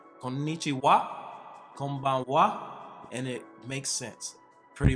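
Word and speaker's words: こんにちは: keep in mind it's with konichiwa you want to make sure you hold the end and konichiwa because there is an in sound and then there's a knee sound so konichiwa another thing you can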